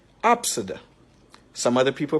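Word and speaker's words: Abcde: a child's name and the child's name is pronounced Absa some other people pronounce it Abid let me give you another this is a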